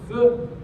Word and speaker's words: feu: They called them Foo Fighters because the French word for fire is feu, F-E-U, so they mispronounced it as foo, as Americans will, and called these glowing orbs Foo Fighters.